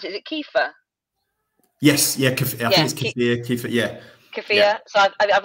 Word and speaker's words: kefir: keep wanting to try um how do you pronounce it is it kefir yes yeah yeah so I've always wanted to